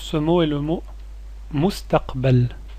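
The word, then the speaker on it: المستقبل: vidéo en pause ce mot est le mot mustaqbel mustaqbel le futur quelles sont les lettres qui compose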